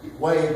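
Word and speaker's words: Huế: And it's pronounced Hue, but it's spelled H-U-E.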